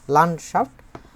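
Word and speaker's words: Landschaft: locker নয়ড লান তারপর হচ্ছেশাফ এভাবে করে উচ্চারণ করব আমরা লানশাফ লানশাফটেন এটা বহুবচন এছাড়াও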